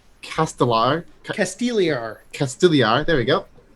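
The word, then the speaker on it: Castigliar: got to Port not castigar but Port it's castellar casti casar there we go like the g is silent um found that it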